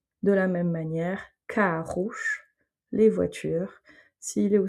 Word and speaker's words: carro: Mais en tout cas, la prononciation du O ne change pas, ça va être un OU. De la même manière, carros, les voitures. S'il est au singulier, carro. S'il est au pluriel, carros.